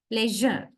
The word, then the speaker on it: leisure: We voice sh sound. Then it is pronounced as not as sh. It is pronounced as j. Pleasure. I hope you all can clearly hear my voice. Measure, leisure, pleasure.